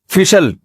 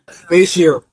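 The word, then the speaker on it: facial: फिशल फिशल फिशल फैशल अबे सही pronunciation बुलवाया करो। फिशल ना फैशल ये अमेरिका से आए हैं। ये सही बताएंगे। जी फेशियल फेशियल ये अमेरिका से आए हैं।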